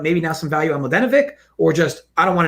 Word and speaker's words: Mladenovic: Mladenovic. I completely say it wrong. I say Mladenovic or anyways, I never play her.